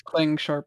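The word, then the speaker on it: ClangSharp: so yeah yeah it's it's clang sharp that's the official name and pronunciation from the clang team okay so yes uh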